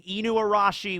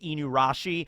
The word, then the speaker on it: Inuarashi: I think I'm confusing Inuarashi with Higurashi, because for the longest time I would pronounce Inuarashi as just Inurashi, but Higurashi is not Higurashi, it's Higurashi.